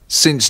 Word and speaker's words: since: Dalam bahasa Inggris, You've known us since January. You've known us since January. kata yang baru tadi ialah Since. Since January. berhati-hatilah, bunyi terakhir harus diucapkan dengan jelas.